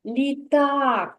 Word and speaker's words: літак: тепер погукай слово літак давай з'ясуємо куди падає наголос в слові літа так так на А так Лі так на а на другий склад я поставлю наголос на другий склад на звук а літак молодець кірочка порахуй будь